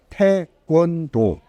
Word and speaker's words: taekwondo: Pronúncio correto em coreano seria taekwondo, né?